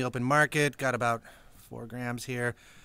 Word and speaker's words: faux: is a French word it's got an X in it but you don't even pronounce the X how do you like